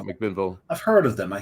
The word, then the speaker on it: McMinnville: Das Bier from Heater Allen in McMillanville. McMinnville.